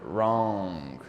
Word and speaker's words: wrong: is completely different wrong sometimes the W is not pronounced like wrong this word wrong you don't pronounce u